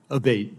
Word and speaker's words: Abate: uh Mr Abate and am I saying your name properly we've heard it pronounced three different ways today in the hearing aate Senator aate okay thank you um